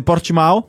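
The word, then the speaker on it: Portimão: Alors la bonne prononciation, je crois, il me semble en portugais, c'est Portimao.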